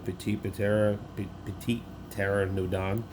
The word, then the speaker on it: Petit Pteranodon: And of course, my last searcher is going to be Petit Pteranodon.